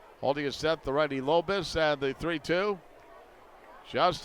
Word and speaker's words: Lobus: Spells it L u L O B U S and it's pronounced Lobus.